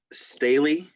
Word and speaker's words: Staley: last name wrong is it's staley yeah that's it just it's just like stanley without the n okay so staley